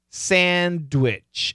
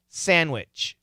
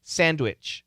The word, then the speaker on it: sandwich: should keep the d sandwich and you'll hear it sandwich but a lot of americans when they say it the d is silent and we study why